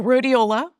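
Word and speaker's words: Rhodiola: I found a supplement called I can't pronounce the name properly, but riol. Oh, rodeiola. Rodeiola.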